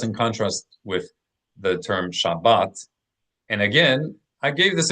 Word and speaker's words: Shabbat: That difference between Shabas and Shabbat represents that one difference between these two types of Hebrew.